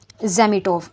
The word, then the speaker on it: Zametov: और उस police inspector का बेसिकली नाम होता है ज़ेमिटोव, ZAMETOV। ये थोड़ी सी रशियन प्रोनाउंसिएशन ऐसी ही है, आप इसके स्पेलिंग नोट करते जाइए और प्रोनाउंसिएशन पे भी गौर कीजिए।